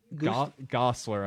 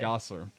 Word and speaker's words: Gosselaar: Gosselaar, I think. Gosselaar, okay. Yeah, Gosselaar. Oh, like Ryan Gosling. Like Gosling. Yeah.